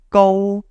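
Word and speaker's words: 高: It's pronounced go, right? Now, you might not be familiar with Cantonese tones, but this go is actually called tone 1 in Cantonese.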